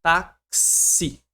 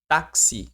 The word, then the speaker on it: táxi: Então, na palavra tax a gente tem uma letra, a letra K, só que ela representa dois fonemas, ó. Ela tem esses dois som. Taxi. Taxi.